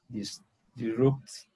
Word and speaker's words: disrupted: power power was temporarily disrupted homes were partially destroyed yeah exactly now look at the pronunciation disrupt but look disrupt finish in a t so you should pronounce the ed so the pronunciation would